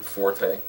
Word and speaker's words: forte: The E is silent on your strength or your fort, but it's one of the most misused words in the Are you English sure?